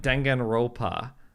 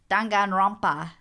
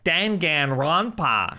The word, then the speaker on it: Danganronpa: dengan wrong the path there's an N in there dank and run path it took months for him to train me how to say it right that was three years